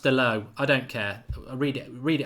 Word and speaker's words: Dalot: Apparently it's pronounced DALOT.